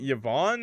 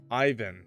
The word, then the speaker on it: Yvonne: Is it Yvonne or Yvonne? Ivan. No, it's Yvonne.